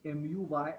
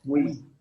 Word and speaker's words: muy: How do I pronounce MUY? I pronounce it as muy.